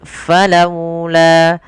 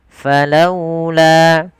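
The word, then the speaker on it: فلولا: Cara membacanya pun dengan ee apa namanya? Lembut. Falaula. Falaula.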